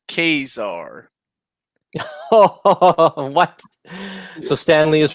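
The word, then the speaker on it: Ka-Zar: he said okay curtis it's not true it's pronounced cazar what so stanley is wrong everybody the magazine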